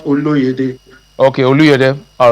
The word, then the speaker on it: Oluyede: Yeah, my name is Dr. Oluyede, not Oluyede.